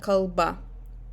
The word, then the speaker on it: kalba: So this is kalba. The last syllable is stressed.